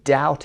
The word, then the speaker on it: doubt: I doubt it دقت داشته باشید برای تلفظ doubt. I doubt it صدای ب تلفظ نمیشه.